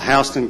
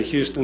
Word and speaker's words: Houston: but in perry georgia if you come in and say houston they send you back home that's pronounced that's houston and georgia um but both of